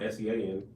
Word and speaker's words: Sean: The name Sean, S-E-A-N, pronounced Sean.